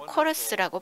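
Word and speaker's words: KORUS: 근데 코리아, US 약자를 합치면 또 코러스라고 발음할 수도 있습니다.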